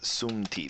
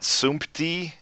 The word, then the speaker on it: sumti: This is a hard word to pronounce, by the way, because of the tendency to want to put a P here. It's not sumti, it's sumti. It's very hard to do this as a native English speaker.